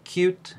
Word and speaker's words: Qt: just like we uh try to pronounce the name of the developer framework that we have used as cute instead of QT the first thing that